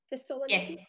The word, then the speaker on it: Thessaloniki: go to the beaches of Greece, fly into Thessaloniki. Did I pronounce it right? Thessaloniki.